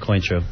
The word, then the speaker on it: Cointreau: That's how you say it, Cointreau.